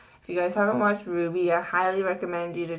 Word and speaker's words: RWBY: is back up again is ruby which is spelled rwby and it's one of